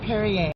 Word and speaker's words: Perrier: Perrier, like Perrier. the water.